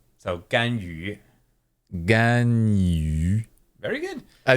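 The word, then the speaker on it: Ganyu: So this second character is tough to pronounce for a lot of non-Chinese learners. Okay. Gan yu. Gan Yu. yu. The way to make this, what I tell my students, is Yeah. do an E sound, E, and then make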